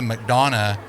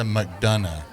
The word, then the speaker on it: McDonough: I'm learning today that it's not Melissa McDonough, it's Melissa McDonough.